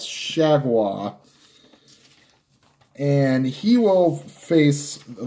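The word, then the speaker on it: JT Chargois: name fool of you that's how it's pronounced it's not sure boy or shovel ah its shag wah and he will face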